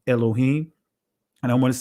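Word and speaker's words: אלוהים: you'll see the phrase wa amar haya yahawah or excuse me alohayim uh in the Israeli language is pronounced Elohim and I want to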